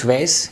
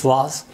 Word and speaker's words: vase: Normally in American English it's vase. In British English it's vase.